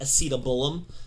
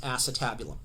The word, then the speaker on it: acetabulum: at it in the manual it looks like a sita bull 'm it's pronounced acetabulum but that's the hip socket okay now this